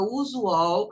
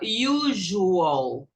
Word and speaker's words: usual: vai pegar a palavra usual, que quer dizer comum, e vai pronunciar o S com lição de J, o com som de IU, vai ficar usual, usual. Quase todas as palavras, 90